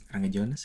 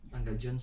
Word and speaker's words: Rangga Jones: Apa Rangga Jones ya? Pronounce-nya. Rangga Jonas? Apa Rangga Jones? Rangga Jones sih harusnya.